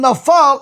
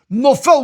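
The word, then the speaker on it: נופל: Because Rabotai, if you don't go back, even though you said the word, you said Haman nafal instead of saying Haman nofel, which is the correct way to say it.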